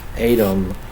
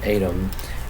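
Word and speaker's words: ATVM: criminally underrated this year adam i think is how you pronounce it it's spelled atv m i think you pronounce it adam it is famine putrid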